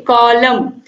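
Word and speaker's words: column: यू एम एन में कॉलम। तो आप देखिए, कॉलम यम तक तो आ रहा है लेकिन यन का कहीं जिक्र ही नहीं है, तो इसीलिए यन क्या है, साइलेंट है।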